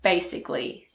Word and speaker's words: basically: Most of the time we do pronounce the letter A, but if a word ends in I-C-A-L-L-Y, most people don't pronounce it.